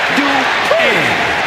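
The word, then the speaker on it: Dupri: Michael, it's pronounced Dupree. Representing the Alpha Academy from Phoenix, Arizona, Maxine Dupree.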